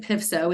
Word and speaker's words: PFSO: We pronounce it PFSO. It's different than like PTA.